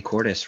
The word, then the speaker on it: Cordes: I'm gonna ask the actress Cordes, rhymes with goddess.